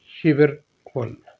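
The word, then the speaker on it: 십일월: महीना है नवंबर का 11 को कहते हैं शि प लेकिन यहां कैरि ल की वजह से लस बनेगा शिबर ल शिबर फल बावा महीना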